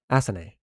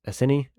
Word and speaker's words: Asen: Asen. Uh, some people pronounce this Asini and I think that's very silly.